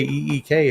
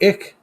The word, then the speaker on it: eek: And if you just say E-E-K, it's eek. It's not ick.